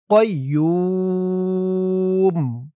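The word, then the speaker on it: ٱلْقَيُّومُ: আল্লাহু লা ইলাহা ইল্লাহু আল হাইুল আল হাইুল কাইম কাইম এখানে ওয়াকফ করার কারণে তিন আলিফ টান দিতে হবে কাইম আল হাইয়ুল কাইয়ুম আল হাইয়ুল কাইম লা লা এক আলিফ টান জবরের পরে খালি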